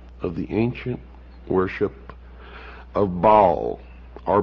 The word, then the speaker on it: Baal: For this is the only ancient portion, the beginning of the ancient worship of Baal, or Baal as some pronounce it.